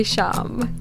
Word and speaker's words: Shyam: Radhe Shyam. Radhe Shyam. The Y is silent?